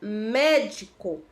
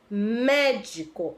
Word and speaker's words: médico: temos Aí o exemplo da palavra médico médico Observe que o Mero né é a sílaba tônica e o é a antepenúltima sílaba Então ela é